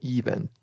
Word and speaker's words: event: events it doesn't matter this this primary stress comes on the second syllable okay yeah correct so